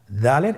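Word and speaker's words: دال: দালের মাখরাজ হলো জিহ্বার আগা সামনের উপরের 2 দাঁতের আগার সঙ্গে লাগিয়ে উচ্চারিত হয়।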